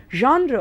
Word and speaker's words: genre: forms other literary genres genre again my dear students is pronounced that way because it's a french word and what is genre